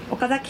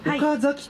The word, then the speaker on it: 岡崎: 言いますけれども岡崎という時にちょっとねアクセントが違って言うんですよね